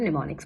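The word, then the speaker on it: mnemonics: I know उसकी spelling अलग है, लेकिन इसे हम निमोनिक्स बोलते हैं।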